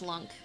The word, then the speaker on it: Lunk: It is lunk, like L-U-N-K.